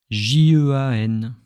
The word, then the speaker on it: Jean: So when I say my name, J-E-A-N, Jean.